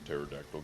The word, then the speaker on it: pterodactyl: can't you hear it when a pterodactyl goes to the bathroom because the pe is silent i just got the